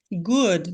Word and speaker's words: good: Aqui, ó, good, você fala como se fosse um U. Um O com complexo ali.